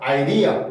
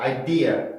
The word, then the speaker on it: idea: 그래서 idea 이렇게 발음하는 게 아니라 idea, idea idea, idea, idea, idea 이렇게 발음을 해줘야 되고요.